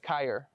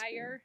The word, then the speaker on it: Kyra: You're almost. Kyer. It's- Kyra. Tire on a car? Tire? Kyra.